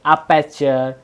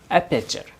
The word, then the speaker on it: aperture: Actually बहुत कोई अपर्चर, अपर्चर इस तरह से प्रोनाउंसिएशन करते हैं, लेकिन उसका एक्चुअली प्रोनाउंसिएशन है अपर्चर। क्या है? अपर्चर। अपर्चर ही आप सभी को बोलना है।